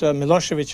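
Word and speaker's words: Milošević: of these current leaders milosevich in Serbia when it's written when you see it in the newspapers it's it ends with a c but actually it is pronounced as as if it were CH do you find people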